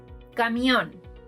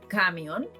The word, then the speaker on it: camión: If we were to stress the first syllable, these words would no longer be palabras agudas, instead, they would be palabras graves and they would sound like cámion and cáncion, neither of which exists in Spanish.